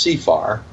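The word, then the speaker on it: CFAR: him we refined it we came up with the acronym contract for America renewal which is pronounced C far and we want candidates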